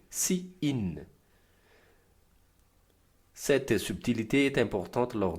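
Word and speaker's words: cin: Ainsi, pour faire entrer les informations dans le programme, on utilise ces in prononcé si in.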